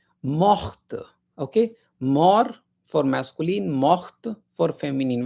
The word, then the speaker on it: morte: mourir mort Okay, mort for masculine, morte for feminine. When you add e then t will be pronounced, okay?